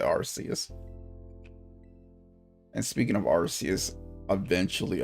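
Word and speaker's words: Arceus: He's going to be playing Legends Archus or Arcus. I I'm pronounce it Arus.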